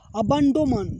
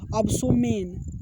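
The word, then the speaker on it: abdomen: अब इसको अगर प्रोनाउंसिएशन नहीं आता तो इसको क्या पढ़ते हैं, अगर आपको नहीं देखे होते तो इसको क्या पढ़ते हैं, अबसोमेन, ऐसे पढ़ते हैं ना, अबसोमेन, लेकिन नहीं, इसको पढ़ेंगे अबंडोमन। इसका मतलब होता है पेट, ठीक।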